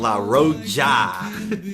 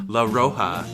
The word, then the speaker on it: La Roja: Today we are drinking La Roja. Josh can't say it right. It's La Roja. Why would you put a J where the H is supposed to be?